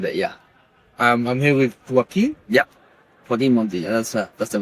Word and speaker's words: Joaquin: I think the reason I know the name Joaquin is because of the actor. Phoenix. Joaquin Phoenix. He's done a great job for the people like me having this name for actually people to know how to pronounce it.